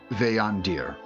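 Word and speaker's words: Veyandir: Uh the name of that mage is uh Veandir. I can tell you how to spell that.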